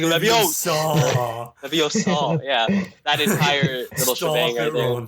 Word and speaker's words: Leviosa: Like when they're practicing like Wingardium Leviosa, you have to say it like a certain way, like Emma Watson / Hermione's just like Leviosa.